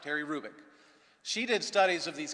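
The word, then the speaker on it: Hrubec: Ube C Terry kruik the H is not pronounced Terry Rubik she did studies of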